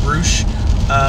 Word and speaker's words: Rush: You got it's spelled Rush, but I think pronounced Roosh.